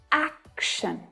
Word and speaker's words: action: The syllable before TION is the stressed syllable. Action, action.